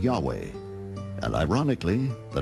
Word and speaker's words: Yahweh: referred to God as Yahweh was named Jay because early European translators were ignorant of the correct pronunciation of Hebrew names many inadvertently referred to the name of God as Jehovah instead of Yahweh and ironically the name